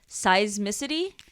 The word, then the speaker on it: seismicity: used to monitor undersea seismicity. Is that how you say it? Yes, like seismic.